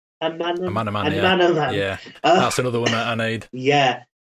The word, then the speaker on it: Amanaman: how do you pronounce it? Anamanaman? Amanaman, yeah.